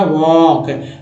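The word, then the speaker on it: walk: रहा है अगला देखिए एल के में एल जो है फिर से साइलेंट हो गया तो के क का उच्चारण हुआ वॉक डीजी में डीजी को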